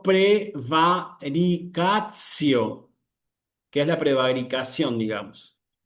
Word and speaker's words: praevaricatio: Bueno, mucho cuidado acá porque no tengo que decir para, si insisto, si estoy leyendo en pronunciación eclesiástica, no tengo que decir acá praevaricatio, sino prevaricatcio, que es la prevaricación, digamos.